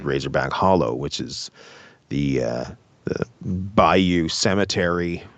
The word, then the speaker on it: Razorback Hollow: So it's actually pronounced Razorback Holler because the woman who plays Haggis the witch, which is funny on in itself, actually pronounces it that way because, people don't say words properly, I guess.